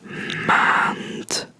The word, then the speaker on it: maand: Because most, like all D's, all letter D's at the end of Dutch words are pronounced as a T. So, yeah, you would say maand.